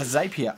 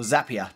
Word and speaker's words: Zapier: The first thing you're going to need is a Zapier account, or Zapier, depending on how you say it.